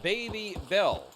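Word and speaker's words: Babybel: Oh, it's pronounced baby bell bear.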